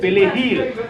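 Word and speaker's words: perejil: Persil en espagnol, on a prononcé pelehil.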